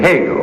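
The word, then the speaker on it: Hegel: middle you'd surely say hey go whose name rhymes with Vegas now for 25 points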